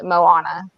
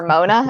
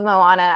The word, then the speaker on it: Moana: I was working at the movie theater when her movie came out, and I remember a lot of people mispronouncing her name, calling her Mona or something like that.